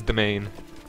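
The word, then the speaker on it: demesne: Yeah, I I honestly pronounced it wrong until I pronounced it de Desmond or whatever it is until I heard Arumba pronounced it correctly. I I pronounced it so stupidly and then it's like, oh wait, it is domain.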